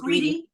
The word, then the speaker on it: Greta: to respond is it is it Greta Grant how do you say your name the name is greedy greedy okay I want to